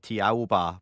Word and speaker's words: Thiaoouba: Uh the author is actually a French Australian and if you pronounce the word in French it is actually Jehovah.